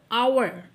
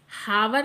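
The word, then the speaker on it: hour: आवर हावर नहीं बोल रहे हैं आप इसे। आपको इसे हावर प्रोनाउंस नहीं करना है। You will pronounce आवर आवर। तो यहां पर एच आपका साइलेंट है।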